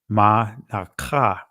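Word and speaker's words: מנחה: So it's pronounced manaka, right?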